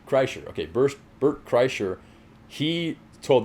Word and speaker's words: Kreischer: Kreischer? Kreischer.